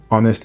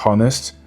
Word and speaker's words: honest: Mais pour ces mots en question, il ne faudra jamais l'accentuer. Donc ça sera our et pas, honest et pas honest, honor et pas honor, air et pas hair et herb et pas herb.